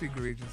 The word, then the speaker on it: egregiously: Isn't it egregiously? Oh, egregiously. Is that right? Yeah, it's egregiously. What'd you say, though?